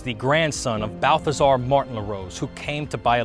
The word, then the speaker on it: Larose: that's right originally pronounced LaRosa mostly Rose descendants probably don't realize that their ancestors are Portuguese as early settlers adopted the French pronunciation which means the rose some of these early